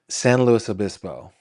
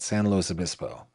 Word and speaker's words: San Luis Obispo: I'm sorry, San Luis Obispo, which is just kills me to say it that way, but that's how people say it. San Luis Obispo.